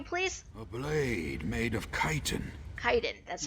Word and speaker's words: chitin: A blade made of chitin. Chitin, that's how you pronounce that.